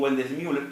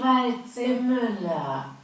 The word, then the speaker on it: Waldseemüller: computadora, Martín, en mi alemán criollo, sería Martin Wendelsmüller, pero es así. Martin Waldseemüller.